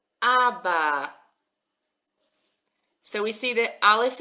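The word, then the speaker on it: אבא: We've got our silent Aleph that's just taking on the sound.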